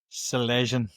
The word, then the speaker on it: Salyzyn: How do you how do you pronounce your second name? So it's it's Sele.